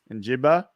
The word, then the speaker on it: Njigba: Is that Njigba? Njigba, the wide receiver.